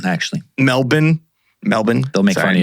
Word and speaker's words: Melbourne: they would have passed through a number of pronounced Melbourne actually Melbourne Melbourne they'll make fun of you if you